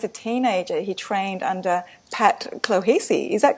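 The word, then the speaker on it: Pat Clohessy: athlete and as a teenager he trained under Pat clohes is that correct how I spel pronounced that yeah it is Donna yeah to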